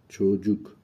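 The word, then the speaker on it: çocuk: زبان ترکی جویز چوجوک چوجوک ببینید اینجا ج تلفظ میشه سی به تنهایی ج تلفظ میشه جویز اینجا یه ویرگول اومده زیر سی که چ تلفظ میشه جویز چوجوک یعنی بچه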